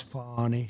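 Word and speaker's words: Fani: she you very unfairly she goes by the name of fie even though it's f a n i she wants to pronounce fonnie she's little little French little French accent and her lover and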